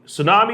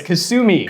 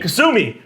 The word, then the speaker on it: Kasumi: news based up from tsunami am i saying that wrong how do you say that brand sorry you're absolutely saying it wrong it's kasumi kasumi from kasumi another very cool looking